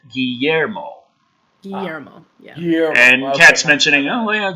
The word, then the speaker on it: Guillermo: John Washburn also is mentioning it's pronounced Guillermo.